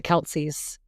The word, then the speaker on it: Kelce: But, in case no one knew, Jason and the Kelceys, that is not how you're supposed to pronounce his last name at all. It is not pronounced Kelce, but that's what everyone says.